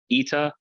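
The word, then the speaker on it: ήτα: Eta, it changed in pronunciation from being a long A sound to being pronounced as it is in church, E.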